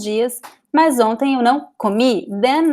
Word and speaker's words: comi: Then, now the stress is at the end. Why? Because the word ends with I. It's one of these little words here. So usually, you see, words that end with I, they are, if there is no accent in the word, the I is stressed.